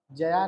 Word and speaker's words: जय: तो वो वहां पर उच्चारण उसका क्या है जय है जया नहीं जय ठीक है वैसे यहां